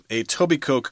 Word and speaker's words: Etobicoke: Well, we asked our writer, who happens to be a Canadian, and she said Etobicoke Creek, which is a little small river running next to the airport there.